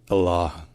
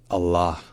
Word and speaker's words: Allah: cat longer so insh insh and next comes Allah Allah it begins with another gloss toop and then